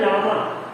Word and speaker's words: llama: एक होता है लामा, LLAMA, डबल एल है बट इसे प्रोनाउंस हम लामा करते हैं.